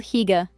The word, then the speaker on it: hygge: It is called hygge, pronounced "hoo-ga".